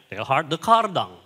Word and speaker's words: Teilhard de Chardin: Tulisannya Chardin, tapi karena Prancis bacanya Teilhard de Chardin.